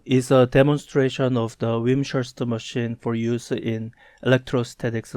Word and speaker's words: Wimshurst: I believe it is an English name, so it's either Wimshurst or Wimshurst. If it's English, it should be Wimshurst.